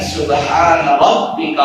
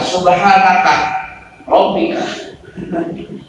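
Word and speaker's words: سبحان ربك: Penutup doa itu bacanya kan subhana rabbika rabbil izzati amma yasifun. Kadang dia bacanya salah, subhanaka rabbika subhanaka rabbika rabbil izzati amma yasifun.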